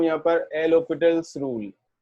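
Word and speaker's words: L'Hôpital: इतना सा समझ लो, एल हॉस्पिटल रूल लिख ही देता हूं यहां पर, एल हॉस्पिटल्स rule. L हॉस्पिटल नहीं बोलना है, HOS है, S is silent, L हॉस्पिटल, ठीक है।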